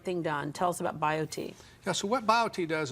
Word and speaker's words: BioTE: happier log on to biot medical dot com and biot is spelled b i o t e so bio t medical dot com easy read